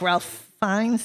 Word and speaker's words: Ralph Fiennes: I really like Ralph Fiennes. Is that how you pronounce it?